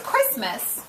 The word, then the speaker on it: Christmas: say that name anyone christ even though it's christmas it's two christians so two ways it's pronounced with a short eye but the name